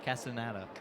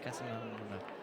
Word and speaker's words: Castaneda: Castaneda is how you say it. but you want to say Casanana.